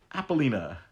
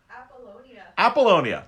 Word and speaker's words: Apollonia: like, who is this Apollina? I always say her name wrong. I'm sure my wife will correct me as she walks by. Apollonia. Thank you, wife.